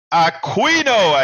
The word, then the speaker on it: Aquino: and I'm gonna say it right Aquino and I didn't have to make the mistake